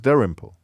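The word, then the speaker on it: Dalrymple: fashion uh he he he just uses his own name and says Dar imple and I thought oh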